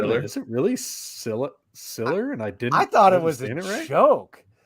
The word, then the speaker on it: Siller: and we definitely don't know it's pronounced Siler. It's definitely Siller.